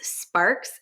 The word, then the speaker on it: Sparkes: So people can find me just at my name, which is Sparks. And it's a little tricky because there's a silent E at the end of the Sparks.